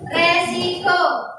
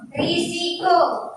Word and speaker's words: risiko: Contoh selanjutnya, resiko, risiko. Yang sering didengar ini kan? Resiko kan? Nah, tapi yang benar ini menurut ejaannya, ya, tata bahasanya yang benar risiko, bukan resiko. Pakai I, ya, bukan pakai E.